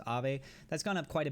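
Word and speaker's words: Aave: high percentage gains you look at it in comparison to some of the other things a or ave or i believe how you pronounce it as ave that's gone up quite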